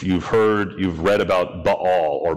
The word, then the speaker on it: Baal: heard you've read about Baal or bail be AAL bail it's really ball but that's okay I always heard it